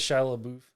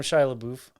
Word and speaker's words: Shia LaBeouf: one more time i i don't think that's how you say his name how you say it he says when he comes over he's like i am shia labeouf he he introduces himself